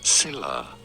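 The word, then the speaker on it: Scylla: as well but how do you go about pronouncing these two Sila and caribdis caribdis so I was close okay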